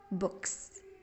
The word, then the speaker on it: books: الاو او هنا بتتنطق زي الضمه زي في كلمه ام وبن، ام بن books.